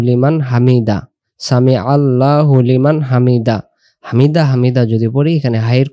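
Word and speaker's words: حمده: সামি আল্লাহু লিমান হামিদাহ হামিদাহ। বাংলাতে হয়াকার হা, ময়রিশিকার মি, হামিদ দয়াকার দা, আর একটা হ দিলে যেমন হয় হামিদাহ, অর্থাৎ হায়ের উচ্চারণটা ভেসে উঠাইতে হবে।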